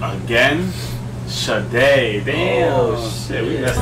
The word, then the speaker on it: Sade: Shit, damn, we pronounced it wrong again. Sade, damn.